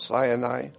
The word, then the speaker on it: Sinai: his people at Mount Sinai but Mount Sinai is actually sin AI and now it's interesting